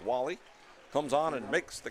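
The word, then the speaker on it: Wale: catch Nick Wall-E spelled w a l e pronounced Wall-E comes on and makes the catch but the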